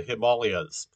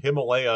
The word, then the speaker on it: Himalaya: uh that you that in english the uh pronunciation himalaya is found a lot and uh that it's it's actually incorrect you know like that's from uh people analyzing a spelling where the long vowels were not marked um and uh that that the the actual pronunciation of the mountain range is himalaya okay wait is that